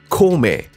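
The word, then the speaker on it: Kōmei: referred to him as kong ming or komei as it is pronounced in japan perhaps because zuger liang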